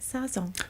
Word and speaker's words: Sazón: I'm going to say it right, Sazón.